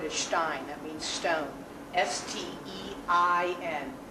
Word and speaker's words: Stein: S-T-E-I-N. The I is the second vowel, so it's pronounced Stein. Many, many, many people are going to come to you asking for a Riesling.